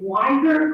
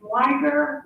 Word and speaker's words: Wider: i'm very sensitive so i used to tell my kids at school it's wider like tiger but a w um just saying um